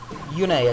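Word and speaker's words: Yune: gray beards steal everything you can I realized yunai it's dangerous here go find someplace safe for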